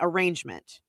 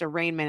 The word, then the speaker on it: arraignment: And some people would say arrangement. Oh, yes. But it is actually pronounced arraignment, and that's how you spell it.